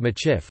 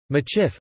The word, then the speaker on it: Michif: Traditionally, the Métis spoke a mixed language called Machif with various regional dialects. Machif, a phonetic spelling of the Métis pronunciation of Métif, a variant of Métis, is also used as the name of the Métis people.